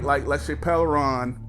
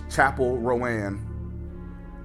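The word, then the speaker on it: Chappell Roan: Then you have artists like LaChapelle Ron, I'm trying to say her name right, Chapel Rowan, like Sabrina Carpenter, like Taylor Swift, Morgan Wallen, Post Malone.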